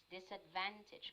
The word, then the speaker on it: disadvantage: good and for phonology let's pronounce this word a bit clearly disadvantage it is at the bandage yes disadvantage correct this advantage yes the accent is in the third syllable okay so do you